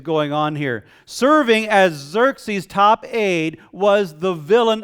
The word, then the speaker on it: Xerxes: The empire was ruled by a man named Xerxes, and that is spelled with an X, not with a Z.